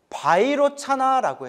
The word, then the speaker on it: 비로자나: 깨달음의 몸인 비로자나 부처님. 비로자나를 인도 산스크리트어 원음으로 바이로차나라고 해요.